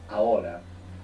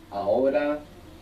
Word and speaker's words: ahora: The word for now in Spanish is ahora. Ahora. This is spelled A-H O-R-A. O-R-A. A-H-O-R-A. Ahora. Ahora. Good. Is the H silent in every? Yeah, unless it's C-H, in which case it's like English, ch.